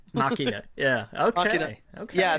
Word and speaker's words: Ex Machina: And I keep mispronouncing this, so you correct me if I'm wrong. Ex Machina? Machina.